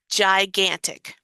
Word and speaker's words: gigantic: This G is a soft G. A soft G sounds like a J. Sounds like a J sound.